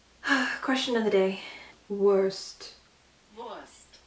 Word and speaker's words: Wurst: See, it kind of sounds like she has the V, but it kind of sounds like she's pronouncing the W. This is why I get so confused, because usually if you see a W, you'll pronounce it as V, but sometimes I swear I'll hear it be pronounced as the W sound.